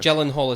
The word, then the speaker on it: Gyllenhaal: Gyllenhaal is how I've heard it said in interviews and things.